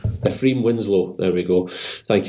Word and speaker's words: Ephraim: Pattinson is green Norman Ephraim as a Ephraim I keep struggling to pronounce that if you're sorry like a shrimp Ephraim Winslow there we go